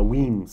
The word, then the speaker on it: Wemyss: the weems family uh weems is how you pronounce it now i'm going to